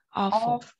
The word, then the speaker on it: awful: Chứ đọc là o nha, từ awful.